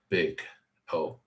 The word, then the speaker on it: Big O: the worst case Pico this is pronounced big oh kind of environmental operations